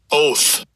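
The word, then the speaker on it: אוֹת: And it is H 20 uh 226 and I'll give you a pronunciation of it. Strongs H226. Oath.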